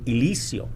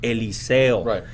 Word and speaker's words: Eliseo: a hispanic rural community would cause pronounce my name elisio right because they would not be able to pronounce eliseo so it's it's important